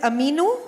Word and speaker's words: Aminu: Prachi, tell me, am I pronouncing this right? Is it Aminu?